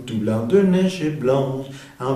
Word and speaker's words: blanche: Blanche. Va a pronunciarse la CH como sh.